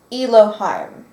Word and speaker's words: Eliheim: So he calls himself Eliheim or Eliheim. Eliheim. Oh, okay. Eliheim. Eliheim? Okay. Because Elohim is spelled different, but it's probably just the vibration that still carries anyway.